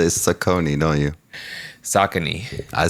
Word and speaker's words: Saucony: You probably say Saucony, don't you?